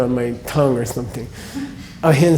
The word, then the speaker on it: ahimsa: Ahimsa, which is not pronounced ahimsa, okay? There's no such thing. There is no M before an S in any Sanskrit word at all.